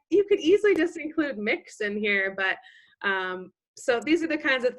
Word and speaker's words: Mx: there you'll see and that's pronounced like mix like mi X and